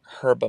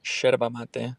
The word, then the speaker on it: yerba mate: Also, thought I'd let you know to start pronouncing herba mate as herba. Yerba mate. Oh. Or sherba mate. What? As the Argentines pronounce it.